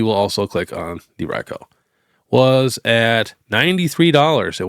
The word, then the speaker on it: Raikou: I know on the show I think they say his name one time and it's Raikou. But in you know actual Japanese I think it's pronounced Raiko. So what do you guys call him? Cuz I just got a new Bengal kitten and I named him Raiko and I've been calling him Raiko cuz that's technically how it's pronounced.